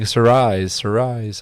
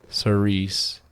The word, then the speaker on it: cerise: Anything that's been listed has been bought, including Sarais. I need to, now I gotta look how to pronounce it so I don't sound like an idiot. Let's see. Cerise, which is deep cherry color, but somehow it's hot pink for Crayola.